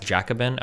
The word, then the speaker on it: Jacobin: Yeah, it's pronounced Jacabin.